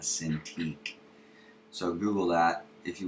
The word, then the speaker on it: Cintiq: called a Wacom Cintiq it's actually Japanese word walk on the exciting pronounce it a sin to eat so Google that if